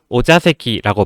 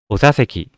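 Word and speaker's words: お座席: 이것도 오자세키라고 발음을 하시는 경우가 많아요. 자 아니고 입모양에 힘 풀고 자, 오자세키 이렇게 발음을 해주셔야 돼요.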